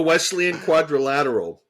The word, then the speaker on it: Wesleyan quadrilateral: I I had it all ready to say Wesleyan quadrilateral did I finally say it right uh where it's the four can you say it the Wesleyan quadrilateral thank you the westle I still can't forget